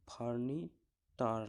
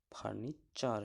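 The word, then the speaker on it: furniture: একই রকম ফার্নিচার, এখানে টি এর পর ইউ আছে, তাই এখানেও ফার্নিটার নয়, ফার্নিচার হয়ে গেল।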